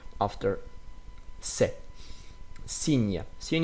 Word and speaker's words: signe: Here, signe, signe. Of course, you see here gn. We will learn that after. So when you see gn, we pronounce that like nye, nye.